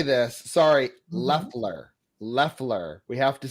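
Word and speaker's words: Loeffler: Leler. Leler. We have to say it right. Oh, I said Laughler. Oh, Leler. Laughler. Left. It sounds like it's got the O, but it's Leler.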